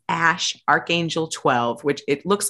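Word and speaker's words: Æ: she says Grim says it's the Elven spelling of AI which is like intelligence or Ai and it's pronounced Ash and then Archangel 12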